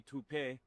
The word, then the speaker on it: Toop: Uh Maybe Toopay. Could be Toopay. Yeah, I don't know. Or Toat Insurance? Maybe? I don't think so. Say it right. That's t o o p. That's Toop.